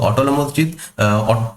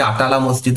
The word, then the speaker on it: আটালা মসজিদ: ঠিক আছে, জৌনপুরে অবস্থিত অটল মসজিদ, অ্যাকচুয়ালি আটালা মসজিদ এটার নাম।